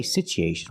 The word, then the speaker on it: situation: situation we don't say situation we say situ the U is pronounced with a long u sound ooh together situ so the T makes a CH sound like chicken situ situation because there's